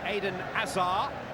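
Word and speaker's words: Hazard: of their marquee signings is on duty here aidan azar and i've checked with him that is the pronunciation of his name and there he is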